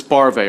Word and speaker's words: Barve: the Final witness chairman brav members of the committee my name is that's barve rhymes with sorry sorry sorry bar go